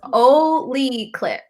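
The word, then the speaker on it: olloclip: It's pronounced Oli clip. Oli clip. Oli now clip.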